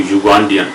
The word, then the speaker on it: Ugandan: It starts with Ya or U. So Ugandan, a Ugandan. We cannot say an Ugandan. No.